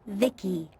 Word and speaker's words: VIC: transistors by the way I'm VI i c pronounced Vicki my Creator was Vib